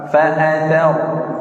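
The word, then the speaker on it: فأثرن: 4 fa'athar ya, fa'athar. Huruf tha itu harus jelas. Bedakan antara huruf se, nih Pak. Se ini tha bukan, sin bukan.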